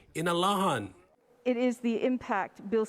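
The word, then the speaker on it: Inalåhan: of the village of inurahan to the chamorro pronunciation in alahan it is the impact bill 60 will have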